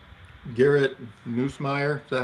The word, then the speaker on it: Nussmeier: Garrett Nussmeier, is that how you say it? No. Nussmeier?